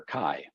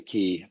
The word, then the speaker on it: chi: The name comes from the Greek letter chi, or technically chi, but again, English American pronunciation.